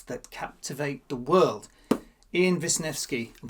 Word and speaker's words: Wisniewski: Ian Wisniewski. I'm saying that again because I learned how to pronounce it and quite impressed.